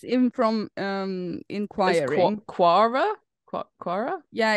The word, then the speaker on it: Quora: topic from Pure how do you say that kuara let's Google it I think it comes from it's in from um quora yeah it's like a bad version of Reddit